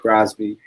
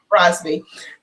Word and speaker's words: Brosbe: Yep, that's right, Brosbe. Brosbe.